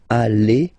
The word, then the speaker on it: allez: Vous allez. Vous allez. Alright? Remember, classic ending for vous, Z, okay? But then when you combine these two letters, you get the sound E. Okay? Allez.